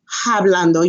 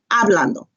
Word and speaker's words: hablando: to where our londo remember H is silent in Spanish okay so you would not say hablando you say hablando que esta hablando and